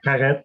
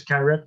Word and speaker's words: Carette: It's like Carette or just like if you pronounce Garrett with a G, but this is Carette with a C.